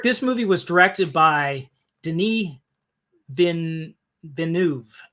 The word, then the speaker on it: Denis: Now, Eric, this movie was directed by Denis Villeneuve. If you try to pronounce his name, it looks like Dennis. It's not. He pronounces it Denis Villeneuve.